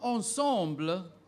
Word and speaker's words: ensemble: Your word is ensemble. Another French word, ensemble. Use that in a sentence, please. Her wedding ensemble was pleasing to the eye. Repeat that word, please. Ensemble. There's another pronunciation, ensemble.